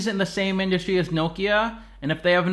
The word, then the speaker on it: Nokia: billion Hewlett-Packard then Nokia the proper way to pronounce the name is Nokia in the US we usually say Nokia their price to book